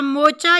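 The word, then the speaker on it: moocher: Such a मोचा यू आर. Are silent होगा, मोचा pronounce करेंगे.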